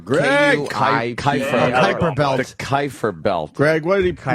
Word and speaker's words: Kuiper: The Kuiper belt. Greg, what did he Kuiper mispronounce? Okay, it's called a Kuiper belt. Kuiper. And what? Cooper Belt.